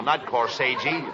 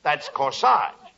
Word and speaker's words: corsage: I gave each one of them a corsage. No, not corsage. Corsage. That's corsage. Spelled A-G-E is pronounced like odge, as in corsage or garage.